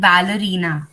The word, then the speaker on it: Valerina: um sorry but uh but my name pronunciation goes like valerina valerina Val Val you can